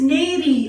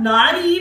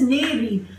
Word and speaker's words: nary: The last word of the day is neri and not nari, which we actually call it in Hindi. The word is neri.